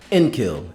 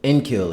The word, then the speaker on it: Enkil: How do you say that name? Enkill. Enkill is how we're going to pronounce the name.